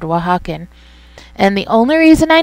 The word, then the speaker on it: Oaxacan: Sorry, Oaxacan Spice. Yeah, that's how you pronounce that word, Oaxacan.